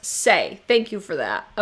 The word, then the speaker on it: Saie: Joy says that brand is pronounced Saie.